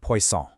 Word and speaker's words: poisson: First, you've got poisson. Hear that soft C sound? Poisson.